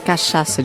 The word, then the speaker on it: cachaça: Yes, cachaça. Do you know how to spell that?